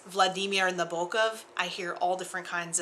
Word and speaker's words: Nabokov: But for example, the way you pronounce the man who wrote Lolita, it's Vladimir Nabokov. I hear all different kinds of pronunciations of this, and they just rub me